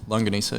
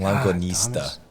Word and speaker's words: longanisa: Well, yeah, it's longanisa. Longanisa. Yeah. Oh, I'm adding a T at the end. I've been saying longanista.